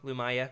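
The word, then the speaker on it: Lumiya: Lumaya. Yeah, that's right. Thank you for what have I been saying? Luminara. I don't know. Yeah, Lumia is how I say it.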